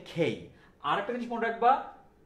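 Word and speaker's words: K: তাহলে সোজা কথা হচ্ছে যে এটা কে না, এটা হচ্ছে খেই।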